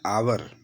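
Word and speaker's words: hour: एन आवर, एच जो शब्द है यहाँ एच साइलेंट है, तो इसलिए एन आवर हो गया।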